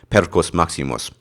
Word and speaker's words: Perkus Maximus: fact he's calling it percus Maximus or if you want to be more specific using the Latin pronunciation pedos Maximus percus maximus in his